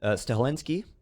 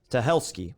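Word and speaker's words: Stahelski: But John Wick, director Chad Stelinski, I pronounce his name completely wrong. Stelski, I keep want to put an N in there.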